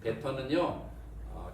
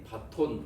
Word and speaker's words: baton: 베턴은요. 계조할 때 쓰는 흔히 바톤 혹은 바통이라고 읽컫는 거죠. 계조 아시죠? 계조. 이어달리기 할 때 막대기 있잖아요. 넘겨주는 막대기. 그게 영어로 베턴입니다. 베턴.